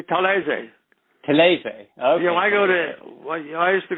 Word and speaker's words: Talese: Your name is Gay Talese here in the United States, but the name Talese, if you were in Italy, wouldn't you be referred to as Talese? No, it would be Talese.